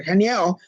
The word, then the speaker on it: Haniel: your regular guardian angel, it's Archangel Haniel, or Haniel, if you don't pronounce the H, but Haniel.